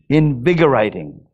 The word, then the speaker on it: invigorating: How do you pronounce this word? Invigorating.